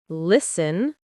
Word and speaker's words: listen: Silent T versus pronounced T. Listen, list, castle, cattle, fasten, fast, often soften.